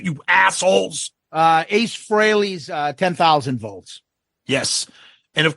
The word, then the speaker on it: Frehley: Ace Frehley's 10,000 volts.